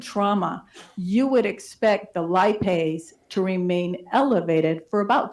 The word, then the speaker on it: lipase: Is it lipase?